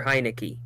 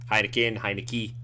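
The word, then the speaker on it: Heinicke: Yeah, I believe in Taylor Heineke because his last name sounds like you're calling my name. Oh, no, it sounds like saying my name. Oh, I thought I said. I thought it was like you're calling for a beer.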